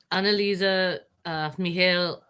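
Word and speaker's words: Anneliese Michel: you look up um analisa mihail exorcism uh that's how you pronounce it in german it's spelled for english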